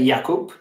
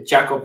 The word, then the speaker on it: Jakub: it wasn't that bad so in polish we say jakub but it can easily be said in an english way so the jacob one also okay and your